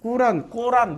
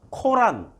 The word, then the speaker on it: 꾸란: 그러면 꾸란을 통해서 꾸란 뭐 발음이 하도 많으니까 발음 가지고 따지지 마세요. 그냥 꾸란, 코란, 꼬란 다 인정.